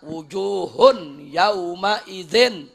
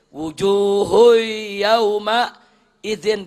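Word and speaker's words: وجوه يومئذ: makruh seperti apa seperti Seti orang baca wujuhun yaumaidin udah enggak ada idghamnya tuh mestinya wujuhu kan begitu mestinya wujuhu Yauma Idin dia bacanya wujuhun yaumaidin makruh Loh kenapa enggak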